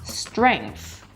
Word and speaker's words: strength: We begin with an STR, consonant cluster. A lot of consonants put together. The S sound.